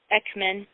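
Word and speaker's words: Eakman: is part of the title of Beverly k x-men that's the correct way to pronounce it Beverly Kate Xmen educating for the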